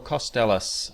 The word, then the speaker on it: Kostelac: Costellis uh with me. Am I pronouncing your name correctly?